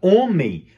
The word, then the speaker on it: homem: A palavra homem não tem... A gente não pronuncia o H na palavra homem. A gente pronuncia somente a vogal.